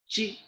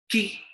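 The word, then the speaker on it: qi: in mandarin is chi chi it is spelled as q i but we pronounce it as chi following the rules of ch sound we read it as chi na ki ki is a wrong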